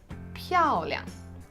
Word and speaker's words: 漂亮: 漂亮漂亮漂亮 So when you're pronouncing it, you're really stressing the first word that has one of the 4 basic tones.